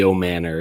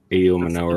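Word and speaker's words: Ayomanor: and for some reason I want to say AO Manor and I know that's not correct like it's AO manur that's how it's spelled like I understand I'm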